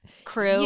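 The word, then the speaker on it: Krewe: You have to It has E at the end of it too. Like crew. Like K R E W E.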